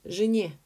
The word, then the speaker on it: жене: Жене, this one is жене because the stress is on ye.